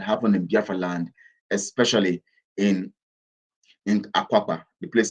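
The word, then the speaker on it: Akwa Akpa: terrible things that happened in Biafraland, especially in Akwapa, the place called Akwapa, in the 1800s, 1880s, it was Akwapa. That's that place called the island Calabar today was called Akwapa. Akwapa.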